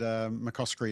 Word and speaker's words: McCoskrie: And McCoskrie is how you say it, but nobody ever gets it right, so it always makes me chuckle.